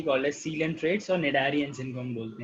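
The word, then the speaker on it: Cnidarians: Animal belonging to the phylum Cillian ट्रेटा are commonly called as Cillian traits और निडारियंस इनको हम बोलते हैं. ठीक है, सी साइलेंट है यहाँ पे, निडारियंस इन्हें हम बोलते हैं.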